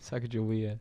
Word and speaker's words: Sacagawea: Sacagawea.